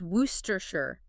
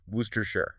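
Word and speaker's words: Worcester: Orershure, pronounced worooster. Just look at that spelling. W O R C E S T E R. And yet it collapses into just three short, heavily reduced syllables. Wooersher.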